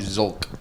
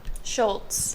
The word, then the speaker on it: Szulc: it correctly oh really my whole life I've called you zulk yeah I know that's fine I don't really care wait how do you say though Schultz Schultz how do you spell that s z u l c oh see I don't